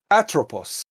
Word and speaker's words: Atropos: everybody's pronunciations of it it's atropos it's greek but it's yeah it's